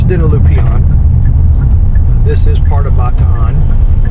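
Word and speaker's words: Dinalupihan: pronounced it wrong earlier i tend to call it dinoloopion but it's dinolupian this is part of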